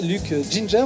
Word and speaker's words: Luc Ginger: On l'accueille aujourd'hui en vrai, Luc Ginger, on le prononce comme ça, et Linda, qui sont là parce qu'ils représentent une maison Party Time.